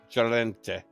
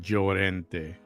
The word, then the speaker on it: Llorente: Can you say that, ma'am? Joente, Ileana Ileana, Llorente. Jolente. Close enough. Come on, say it right. Llorente.